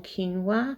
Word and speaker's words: quinoa: going to be getting this packet of cajun quinoa that's how you say it and i'll just